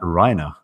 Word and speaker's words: Reiner: I also mispronounced your name. It's Matt Reiner.